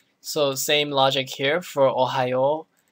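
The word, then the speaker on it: おはよう: okay so first one ohio ohio notice that the uh extends the o sound it extends extends the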